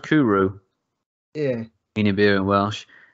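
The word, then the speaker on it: Cwrw: to me like it fits the bill oh pronounced kuru yeah guinea beer and welsh um i think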